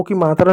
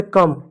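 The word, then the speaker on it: come: है जहां उसको ओ की मात्रा नहीं पढ़ते हैं जैसे कम अब इसको कोमा नहीं पढ़ेंगे कि ओ है कंसोनेंट है इ है इसको कम पढ़ेंगे क्यों क्योंकि क्योंकि ये अपवाद है।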